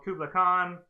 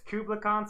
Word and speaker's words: Kublai Khan: it's Kublai Khan, so you don't like pronounce it Kublai. like the Kubler elves.